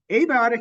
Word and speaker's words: abiotic: if you want um abiotic has four syllables I have a by ah tick abiotic now why did